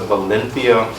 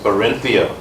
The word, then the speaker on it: Barinthia: Madam President, it will be mentioned that Toastmaster Valenthia, but the correct pronunciation of the name is Barinthia.